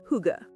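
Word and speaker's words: hygge: Huga. Pronounced huga.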